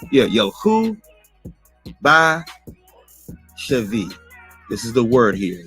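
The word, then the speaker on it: שְׁבִי: away as a captive Chevy now granted this word that it does not have a doggish in the middle so it's more properly pronounced with a V sound dealing with the Sephardic Hebrew dialect uh but however some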